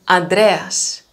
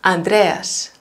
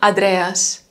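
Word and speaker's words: Ανδρέας: they can't pronounce is a small short n before the d sound so it can be andreas andrew right andreas so bother okay you will hear greeks saying adreas definitely but i would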